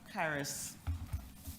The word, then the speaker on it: Charis: Charis, pronounced as if it's a K. Pardon me, sorry? Charis, pronounced as if it's a K Okay. instead of the CH.